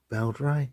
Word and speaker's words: Beldray: a b b Ray I think it's pronounced Bel R yeah belr um I think they're